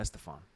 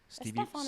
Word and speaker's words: Estefan: Why did I say it like that? Gloria Estefan. Estefan is right.